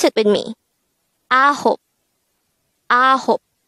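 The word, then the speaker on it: 아홉: Next, the native Korean translation of 9 is ahop. This is pronounced as a two-syllable word. The first syllable is a, second syllable is hop. Pronounce it with me. Ahop.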